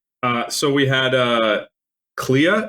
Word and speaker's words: Clea: so we had uh Clea is it pronounced CA Duval yeah CA Clea CLA as what oh